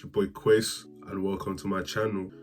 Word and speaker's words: Kweis: It's your boy Quace, and welcome to my channel. And for anyone who's been butchering this name, KWEIS at the E, it's pronounced Quace, not Kwasi, Quace.